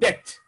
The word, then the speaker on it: debt: إن فاكرين احنا قلنا عليها بنقول عليها in that or in debt البي ما تنطقهاش in debt قلنا دول امريكان in